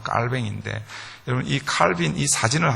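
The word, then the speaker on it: Calvin: 괴로움 할빈 이라고 그렇게 우리가 영어로는 칼빈이 라고 하고 원래 이제 발음은 깔 뱅 인데 여기 칼빈이 사진을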